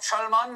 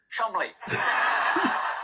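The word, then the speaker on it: Cholmondeley: me the maress of Chand what a beautiful name that I'm being told right now that I pronounce incorrectly it is in fact pronounced Chum counter point no it's not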